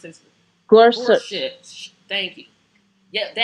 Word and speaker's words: Gorsuch: Brett Kavanaugh, we're going to impeach Gorsuch, because I still can't Gor pronounce his Gorsuch.